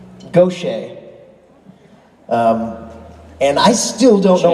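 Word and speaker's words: Gauthier: now backstage you can pronounce his last name ten different ways and I I was pronouncing the French Gucci what she said I can do if I want to be fancy then the powers that be said it was go Shay and I still don't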